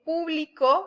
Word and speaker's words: público: El público estaba esperando a que empezara el show, lleva acento en la U.